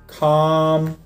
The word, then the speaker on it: calm: Обратите внимание, что буковка L в этом случае не читается, она просто исчезает, остается только звук A. Естественно, у нас будут такие слова, как palm, calm, almond и так далее.